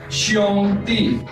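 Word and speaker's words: 兄弟: For brother, we have the Chinese word that is xiong-di, X-I-O-N-G. How to pronounce?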